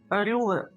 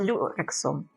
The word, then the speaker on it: люрексом: Звісно, як ви бачите, якщо в мене дійдуть руки, то це буде мій перший досвід із рюле. Я не вимовляю цього слова, із люрексом.